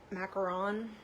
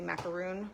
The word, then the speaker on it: macaron: i pulled a mint macaron how do you say it mac yeah macaron i always want to say it wrong i always want to say macaroon but that's two o's right i think so okay